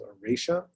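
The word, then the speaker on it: Oracea: low-dose doxycycline and it's the brand was called erasia which as you guessed rhymes with rosacea so it came out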